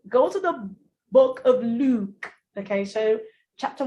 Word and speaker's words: Luke: I need you to locate L-U-K-E. Take a look at that word. L-U-K-E is pronounced Luke. So it has the same sound as your fool, which has this sound, ooh, in it.